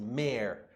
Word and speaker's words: mayor: Mayor, aqui a palavra se pronuncia assim, mayor.